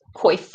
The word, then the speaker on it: coif: Coif rhymes with cough.